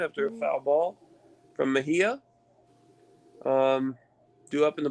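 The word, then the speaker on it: Mejía: no one on okay francisco meja i don't think that's how you pronounce his name yeah francisco mejia yeah mejia okay i'm sorry well first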